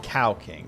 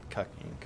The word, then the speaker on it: Cow King: Yeah, it's it's pronounced cow king TTS, not cucking.